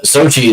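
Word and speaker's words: Xochitl: to be tight, it's Sochi, the girl who plays Ms. Marvel on the Marvels. Sochi, whatever her name is, it's Sochi is how it's pronounced. It's not spelled how I'm saying it.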